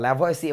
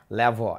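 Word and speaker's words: Lavoisier: Antonio ল্যাভোয়া, যাকে তোমরা ল্যাভোয়াসিয়ে বলে ডাকো, আসলে তার নাম হচ্ছে, নামের উচ্চারণটা অনেকটা ল্যাভোয়া, এরকম একটা উচ্চারণ।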